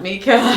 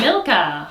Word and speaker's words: Milka: Mika. That's not Mika. Milka.